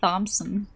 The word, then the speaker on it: Thompson: The H is just silent for some stupid reason.